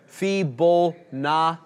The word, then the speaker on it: Fibonacci: John, as a resident Italian, you'll need to pronounce it Fibonacci.